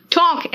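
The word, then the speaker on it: talk: इसलिए प्लीज आप क्या करोगे, बोलो क्या, इट्स बाम, पाम, पाम मतलब हथेली है ना, टॉक एल साइलेंट है, वॉक डान को कहते हैं आर्म्स,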